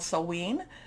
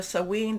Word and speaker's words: Samhain: We are also in what's called Samhein. There's different pronunciations. I think I'm doing the Scottish pronunciation of this, but we can, there's different Celtic type of pronunciations. So Samhain, this is a time when the veil is very thin.